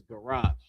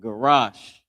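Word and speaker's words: garash: The next word is garage. I'll draw this line up here. Garage. Not garage but garage. Ga by itself singular. The character ra and the character sha are connected is pronounced garage. Garage.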